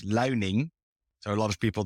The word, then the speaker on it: Luining: I think in English it's Luining.